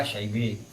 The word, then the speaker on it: Syaibah: Ya orang Tarim biasa logatnya Tarim itu bacanya dimiringkan. Aliyah jadi aliye, Sanawiyah, Sanawiye, Syaibah, Syebe.